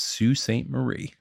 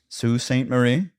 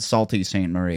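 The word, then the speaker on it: Sault Ste. Marie: will be hearing is Sue St Marie Sue Saint Marie yes all right it looks like it's spelled salty Saint Marie it does but we're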